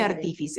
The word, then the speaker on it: artífice: artífice, es una palabra esdrújula que debe llevar tilde donde En la I. en la I, bien, artífice. Se siente, se escucha la intensidad con que pronunciamos la segunda I, digamos.